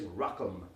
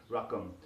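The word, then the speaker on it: رقم: The word number in Arabic is rakam, like rakam sakam robots, but with a Q instead of a K, rakam.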